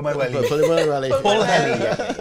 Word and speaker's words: Pwllheli: It's Pwllheli, Wales. We'll debate the pronunciation of it.